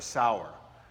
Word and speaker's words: Tyre: We find him in a place called Sidon and Tyre, or Sour, depending on how you pronounce it.